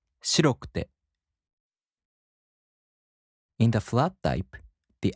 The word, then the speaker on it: 白くて: In the downstep type adjectives, the accent falls on the fourth to the last mora. For example, 白い turns into 白くて, and the accent falls on し. 白くて.